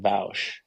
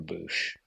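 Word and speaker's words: Boushh: there's like the Gamorrean guards have like these cleaving, Okay, so you pronounce it Bausch. I've yeah, heard people call her Boosh. yeah. I don't like that.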